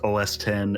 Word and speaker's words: OS X: It's OS 10 and the iPhone 10R. They don't say the X. Pretty sure it's OS X.